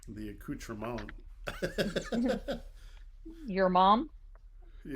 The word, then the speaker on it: accoutrement: the T is silent, so it's a accoutrement.